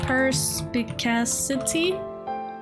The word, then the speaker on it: perspicacity: Hold on, how do you pronounce that? Perspicacity?